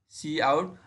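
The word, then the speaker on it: cout: आउट है ना, तो इसको सी आउट ही प्रिंट कर वो प्रोनाउंस करते हैं, सी आउट।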